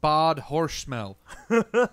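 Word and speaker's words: Bad Hersfeld: tell hold on this this town name is bad herfeld it's actually pronounced bod hor smell most likely or bad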